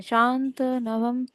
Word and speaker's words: शान्तनवम्: युधिष्ठिरः शांत न, ऐसे शांत नवम, शांत नवम, है ना, शांत नवम। त का उच्चारण पूर्ण। हाँ।